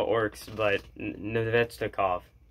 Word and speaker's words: Nedeljkovic: I don't know how it works, but Nedeljkovic. That's how you pronounce it, just like that.